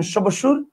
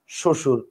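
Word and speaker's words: শ্বশুর: বলেন আপনি বলেন স্বাধীনতা আবার দেখেন শশুর এইযে শশুর বানানের নিচে বফলা আছে আপনি কি বলেন সশুর বলেন আপনি বলেন শশুর আবার দেখেন স্বামী স্বামী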